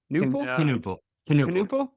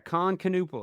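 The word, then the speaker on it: Knueppel: Canalup. Can the K is there? Khan Canupal. Yeah, that's right. That sounds more right.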